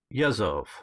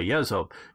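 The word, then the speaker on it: Yezhov: And Nikolai Yezov, I think is how you pronounce his name, Nikolai Yezov, is the commander of the NKVD starting in 1936, not necessarily January.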